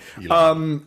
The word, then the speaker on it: Elon: So then we get introduced to is it Elon? Is that his? Yes, that's how you pronounce it. Okay. Elon.